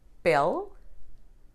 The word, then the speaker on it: pele: If the tonic syllable is the natural one, you can hear the sound in words like pel, caderno, or caneca. E sounding like E is